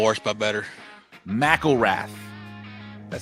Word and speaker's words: McElrath: McElrath. Golly. Been murdering it all night. You don't let me go the whole show and just not say a word. I've been called worse by better. McElrath.